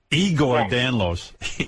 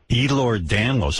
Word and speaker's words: Ehlers-Danlos: It would be nice if you would pronounce it correctly. Charlie Daniels. How do you got Charlie Daniels disease? Here's Charlie Daniels disease. What is the disease? Ehlers-Danlos. Ehlers-Danlos? Igor Danlos. Igor. No. Ehlers-Danlos.